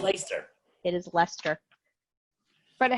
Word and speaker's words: Leicester: It's Leicester. It's It's Leicester. Leicester. It's Leicester. Is it Leicester? It Oh, is it's Leicester.